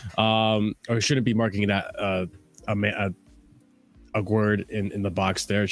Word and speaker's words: Aguerd: Aguerd, is that how you say his name? Aguerd, yes.